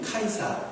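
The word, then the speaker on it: Caesar: 그래서 오늘 성경에 영어 표현은 시저라고 나오지만 표현이 발음이 카이사, 케사르라고 하는 그런 표현으로 가인자라는 뜻은 지금 시저라는 뜻이고 그 시저는 로마의 황제의 통치입니다.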